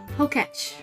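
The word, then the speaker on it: Pokétch: So, I just discovered that Pokemon Watch is pronounced Poketch for short.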